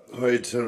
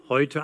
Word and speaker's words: heute: Heute Abend. For Charles, the German word heute rhymes with English Leute. They both end in schwa, which can be separated from a following vowel by linking R.